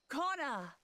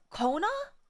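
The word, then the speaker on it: Koana: Conor. Oh, it's pronounced Kona.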